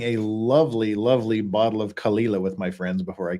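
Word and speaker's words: Caol Ila: So, what is Kalila? The Kalila. As you would call it. As you would call it, yeah. Is it really pronounced Kalila? Basically, yeah.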